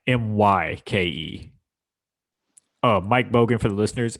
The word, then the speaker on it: Myke: spelled with a Y, Myke.